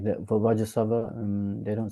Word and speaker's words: Vajrasattva: Like that for Vajrasattva, they don't say Vajra Sattva Samaya. Yeah, they say another Benza Sattva Samaya Manapalaya. So yeah, so we I think because Lama should get Vajra Sattva, we say Vajrasattva.